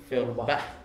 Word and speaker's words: Feuerbach: Dia masuk ke sana, dia berkenalan dengan Feuerbach, bagaimana cara pengucapannya itu? Feuerbach.